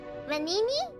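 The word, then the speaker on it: Venigni: you thank you oh the g is silent the venini vanini panini is that how you say it thanks lady sound of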